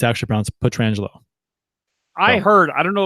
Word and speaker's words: Pietrangelo: to the Pietrangelo hit on knows how I pronounce his name correctly Pietrangelo that's right we should you know we're gonna